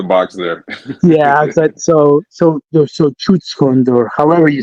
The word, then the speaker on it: Schutzhund: Schutzhund. Like shut the door. Yeah, like Schutzhund.